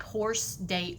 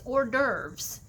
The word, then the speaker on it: hors d'oeuvres: at the bottom and it looks really awkward um in how you would pronounce it it looks like horse day oops okay so it's hors d'oeuvres and it's fancy party